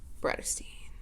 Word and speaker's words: Bratterstein: My name is and my channel name is pronounced Bratterstein. I wish I knew how to edit to put like a sparkly banner that said Bratterstein.